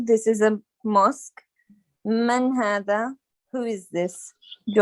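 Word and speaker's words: هذا: Hada is pronounced hada, but it is written without an alif, without the first alif.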